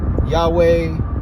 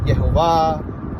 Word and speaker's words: Yahweh: name Yod-Heh-Vav-Heh or Yod-Heh-Wah-Heh, some people say Yahweh, some people pronounce it Yehovah, some people pronounce it Yahweh, some people pronounce it Yahuwah.